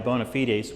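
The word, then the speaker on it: bona fides: Um, so, uh, I want to, this is, uh, I guess establishing my my bonafitedes, which is in fact the correct pronunciation of that term.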